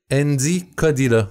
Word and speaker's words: Endi Kodila: Andy Kodila. C'est comme ça ton nom de famille qui se prononce?